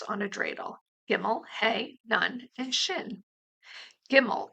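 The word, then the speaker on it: gimel: easy to remember because gimmel sounds like gim me all when you get hey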